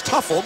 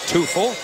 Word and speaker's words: Tufel: I know, we know that last name spelled that way is Tuffle, but she pronounces it Tufel.